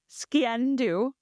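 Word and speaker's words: sgian-dubh: Steal back her clan's sciendu, and I had to look up how to pronounce this. Sciendu. It's a ceremonial dagger, sciendu, and it's spelled so weird.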